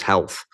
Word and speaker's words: HLTH: the conference that's right conference hlth that the insiders say pronounce as health yes yes yeah it's